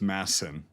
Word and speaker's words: Madsen: He was in Afghanistan, and it's Masson. They don't pronounce the D. It's Masson. Yeah, I know. But Yeah, I'm and American, so- so I'm but, gonna say like- Madsen.